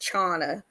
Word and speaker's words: Chana: show without further Ado Shauna thank you so much I appreciate that and I on behalf of my mother I must correct you it's pronounced Chana okay no you good I